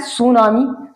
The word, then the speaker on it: tsunami: की बात कर लूं, ये देखो TSUNAMI, ये लिखा है सुनामी। सुनामी जो समुद्र में आती है, ठीक है, या लहरों में जो होती है, तो सुनामी ये लिखा है। अब इसमें टी जोड़ दिया गया ये अलग से, लेकिन ये अंग्रेजी शब्द है ही नहीं।